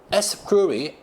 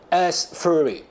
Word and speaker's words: Astrhori: Yes, how to pronounce it? Astrhori. Astrhori.